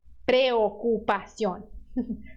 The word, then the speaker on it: preocupación: Preocupación. Preocupación. Son 5 sílabas.